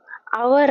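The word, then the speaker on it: hour: dash ಅವರ್ of English ಇದು ಅವರ್ ಅಂತ ಎಚ್ ಇಲ್ಲಿ ಸೈಲೆಂಟ್ ಸೋ ಇಲ್ಲಿ ಆನ್ ಅಂತ ಆಗುತ್ತೆ ಮೊದಲ ಸೌಂಡ್ ಔ ಅಂತ ಬರುತ್ತೆ ಇದು ವಾವೆಲ್ ಸೌಂಡ್ ಅಲ್ವಾ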